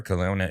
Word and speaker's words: Kelowna: That's Kelowna, Canada. That one's gonna sell out. That one's coming. Gonna sell out. And then you've got Vancouver, British Columbia on the 21st and 22nd of October. Kelowna is the 20th.